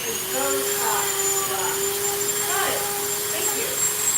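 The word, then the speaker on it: Beaux: Not to be rude, friends, her name is Botox. Got it. Thank you. Botox, like the stuff you put in lips. Right, but it's spelled B-E-A-U-X.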